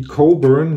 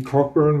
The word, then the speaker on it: Cockburn: marktanalyse geben ja denken heißt nämlich coffee coburn nicht coffee koppeln war so wird der geschrieben coburg also das heißt auf der haid ausgesprochen ich würde euch also